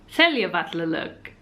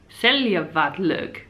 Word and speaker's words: Seljavallalaug: The secret pool beside Seljalandsfoss is called Seljavallug. Seljavallug. Seljavallug. Seljavallug.